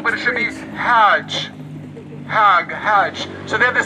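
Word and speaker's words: חג: Chag. But if you know how to speak Hebrew properly, what would you say? Hag. Hag. Not chag.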